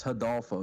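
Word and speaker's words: Rodolfo: that's the other dude it's hidolfo dude I mean don't you know Brazilians pronounce their R's like an h i don't no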